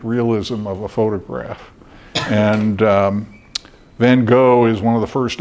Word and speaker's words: van Gogh: And my Dutch friend said, "Oh, Vincent van Gogh." And the host said, no, it's Vincent van Gogh. And they refused to give him credit for his Dutch pronunciation of the Dutch artist.